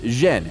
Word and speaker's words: Yen: In the Beijing dialect, his surname is pronounced Zhen, and Yen is the Cantonese pronunciation.